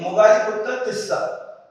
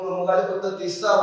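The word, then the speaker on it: Moggaliputta Tissa: The presiding monk will be Mogaliputra Tissa. Okay, this is a typical Pali name. As we know in Pali, the letter R is not pronounced.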